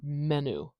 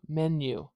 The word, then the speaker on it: menu: do I say menu if I if I just said this as it's spelled it might sound like menu but it's not is there there's another speech sound that we put between the n and the U new menu we're going to put this Y in here this is the symbol